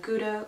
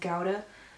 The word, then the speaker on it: Gouda: it was like Finley sliced meat and then Gouda which I got laughed at for saying it wrong in German it's pronounced of Gowda but yeah and the states we would always